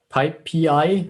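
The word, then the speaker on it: PyPI: the module lives in uh pipe pi i think is the preferred pronunciation so in the python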